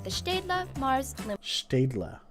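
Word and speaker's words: Staedtler: better pencil like the stedla mars lumograph huh one more time one more time oh they say like with a german accent yeah like hold on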